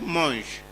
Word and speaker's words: manges: Tu manges, terminant avec S, sans prononcer le S.